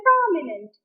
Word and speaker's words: prominent: So, when I say the word prominent, you hear the syllable pro louder, higher and longer.